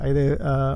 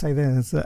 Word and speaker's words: Haydee: Well, and people call me Haydee because the name is actually a French. Haydee is how it's pronounced in French, and that was the original spelling of the name. But no, in Spanish, I'm Haydee.